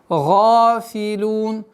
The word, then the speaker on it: غافلون: Гафилун. Га твердое произношение и долгота в размере двух огласовок удлиняем фатху.